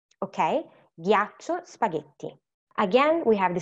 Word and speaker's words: ghiaccio: And then we have here again, when we add the H, we do not pronounce it, but it's going to become ghiaccio, spaghetti. Okay? Ghiaccio, spaghetti.